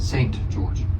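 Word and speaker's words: St. George: But what about st dot George? How do you say it? Saint George.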